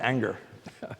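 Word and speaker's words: Ingres: But what Ang, I-N-G-R-E-S, Eleanor's dad, who's French, pronounced it anger.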